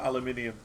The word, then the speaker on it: aluminium: So Mun, we're making aluminum or as some say aluminum, whichever you prefer. But I prefer aluminium cuz that's the correct way to say it.